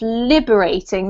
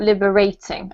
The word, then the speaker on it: liberating: This one here, the emphasis is on the first syllable, so it's liberating, not liberating, okay?